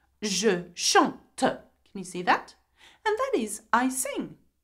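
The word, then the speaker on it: chantent: Now, though there is E-N-T, you do not pronounce the N and the T. You pronounce it as E, just like je, tu, il, elle, okay?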